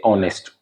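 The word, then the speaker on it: honest: उदाहरण देता हूं जैसे अंग्रेजी में एक शब्द है ऑनेस्ट इसके स्पेलिंग है एच ओ एन ई एस टी अब इसमें साइलेंट है क्यों है नहीं मालूम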